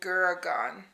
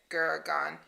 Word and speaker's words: Gurgaon: I just realized that this is the one that I got their location in Guragan.